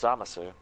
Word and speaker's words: Zamasu: far as Xenoverse goes, they left the U in, so it's Zamasu.